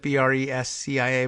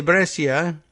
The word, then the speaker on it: Brescia: hospital in Brescia is that how they would pronounce that bre s CI a Brescia in the north of Italy needed supplies